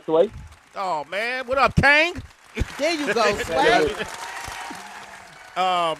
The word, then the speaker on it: Kang: Ladies and gentlemen, the king himself, T.I. Kang, the Kang, K-A, Sway, Kang. Did I say it wrong, HB? Yeah, you just said the king. Like, you got to put a Kang, K-A-N-G, the Kang, Sway.